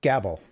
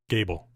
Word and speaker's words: Gābl: entree tell me about gabble Gable it's okay everybody everybody calls it gabble it's Gable the a has a little line over it so it's a long a the idea is that